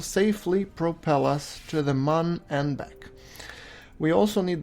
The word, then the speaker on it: Mun: And you will notice that we call it Mun because it's written M-U-N, as opposed to the Earth's moon, which is spelled M-O-O-N.